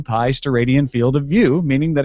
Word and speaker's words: steradian: The unit for a solid angle is the steradian, pronounced steradian.